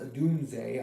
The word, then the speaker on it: Odunze: And we know that this team recently got Caleb Williams and Rome Odunze, which some people have been saying Rome Odunze, which is pronounced Odunze. I looked it up.